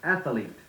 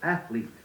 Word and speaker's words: athlete: too many times you hear someone say athlete instead of athlete film or film mischievous for mischievous look up doubtful words in